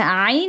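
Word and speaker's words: ع: আচ্ছা আইন আর হার মাখরাজ হচ্ছে গিয়ে একই জায়গা থেকে হলকের মধ্যখান থেকে। হ্যাঁ। হা আর আইন এই দুইটাই হলকের মধ্যখান থেকে আসে।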